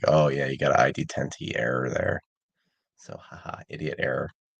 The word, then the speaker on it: ID-10t error: his book, Idiot Terror, which is there a different way of pronouncing that one? Yeah, it's I guess the way that I call it is ID Tenti error or idiot Okay.